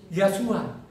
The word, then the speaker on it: Yahshua: disingkat jadi namanya apa yasua Kenapa saya bilang dia itu yasua ya karena tulisannya Yod he wau Sin Ayin jadi kalau kita baca lengkap itu bacanya yahwe su Amin ya jadi ingat